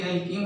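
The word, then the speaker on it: alkene: एक एल्केन होती है, दूसरी एल्कीन होती है, तीसरी एल्काइन होती है। एल्केन को ध्यान से पढ़ेंगे तो लास्ट में एन शब्द का उच्चारण होगा, एल्कीन में इन शब्द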